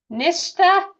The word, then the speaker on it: Nishta: And if you have a case that you want to present and talk about, like I might say your name wrong, how do you pronounce your name? Nishta? Yeah, I know.